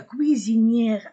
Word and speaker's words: cuisinière: De la cuisinière, oui, S entre deux voyelles, de la cuisinière à gaz à la cuisinière électrique, électrique.